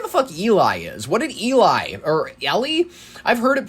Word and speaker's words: Ely: I've heard it both ways at E L Y. I always pronounced it Eli, Minnesota and some people are, you know, they're a little more they say intense with it. They go Eely, Minnesota. I just that doesn't sound right to me.